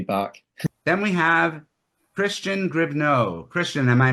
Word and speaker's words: Gribneau: Then we have Christian Grio. Christian, am I pronouncing your name correctly? Is it Grio?